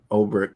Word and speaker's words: Ulbricht: Yeah, I think it's Ulbricht.